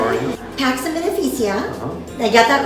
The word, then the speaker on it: Pax and Beneficia: Pax and Beneficia.